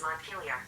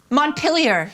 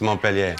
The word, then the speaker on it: Montpelier: Vermont's capital is Montpelier. Montpelier. Montpelier. I said it wrong. No, you did say it right. It was Montpellier.